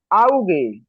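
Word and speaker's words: Auge: আরেকটা আমি যদি বলি আউগে আউগে আউগে অর্থ চোখ আউগে অর্থ কি আউগে উচ্চারণ করেন হ্যাঁ চোখ চোখ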